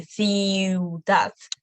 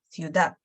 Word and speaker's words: ciudad: So they're also going to be like half pronounced as well. So not going to be ciudad. We're going to pronounce them quicker, ciudad.